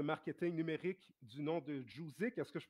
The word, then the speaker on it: Jouzik: Donc, mon deuxième invité est enseignant à l'Institut Trébasse, fondateur de l'agence de marketing numérique du nom de JOUZIK. Est-ce que je prononce bien?